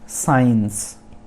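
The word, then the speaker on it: science: फिर आते हैं साइंस। साइंस, यहाँ पर C साइलेंट है, मतलब विज्ञान, एक सब्जेक्ट है।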